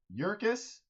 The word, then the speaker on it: Yurkus: Yurkus rhymes with circus.